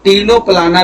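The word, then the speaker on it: Ctenoplana: ठीक है, या इसको टीनोप्लाना भी बोलते हैं। क्या बोलते हैं? टीनोप्लाना, टीनोप्लाना, ठीक है। याद रखना है ये कि इसकी स्पेलिंग नहीं गलत करना है। यहाँ पे सी साइलेंट है, पहले सी बनेगी फिर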